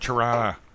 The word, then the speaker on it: Tirana: you tried out Rana you gotta say it right Tirana I live in door